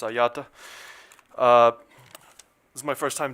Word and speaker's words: Agliata: For the record, Agliata, Agliata, pronounced Ayata.